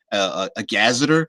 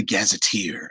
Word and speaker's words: gazetteer: He was saying some people call it a gazeter. I love the gazetteer. I love the pronunciation of that. Even if you do pronounce it a gazeter, but I believe like that T-E-E-R sound is like gazetteer.